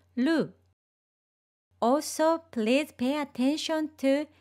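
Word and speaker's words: る: Please don't roll your tongue too much when you pronounce ru.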